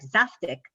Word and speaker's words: zaftig: All this confusion is strange because Zaftig, which incidentally is pronounced more like Zaftig, does have a precise meaning.